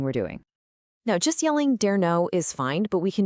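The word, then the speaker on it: 誰の: And here it is, dare no, pronounced dare no.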